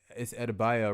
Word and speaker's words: Adebayo: This is where I'm over here kind of putting things together as far as why it's Adebayo, right? That's how you pronounce her name.